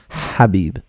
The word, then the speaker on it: Khabib: correctly on air so they pronounce it as khabib so I'm not sure if he pronounces his name has Habib so I double-check that